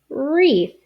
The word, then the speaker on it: wreath: going worried i'm saying wreath you don't hear that w at all just like this word